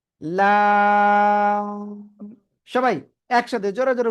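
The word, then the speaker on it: لام: আমরা এটা উচ্চারণ করব লাম ওকে জিহ্বার আগার কিনারা উপরে মাড়ির দাঁতের গোড়ার সাথে লাগিয়ে জিহ্বার আগার কিনারা উপরে মাড়ির দাঁতের গোড়ার সাথে লাগিয়ে আমরা এই অক্ষরটা উচ্চারণ করব এবং চার আলিফ টেনে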